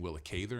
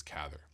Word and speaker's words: Cather: So even like I read uh like a group of novels by Will Catherther who I keep saying willther and I think I say it wrong. I think it's Cather.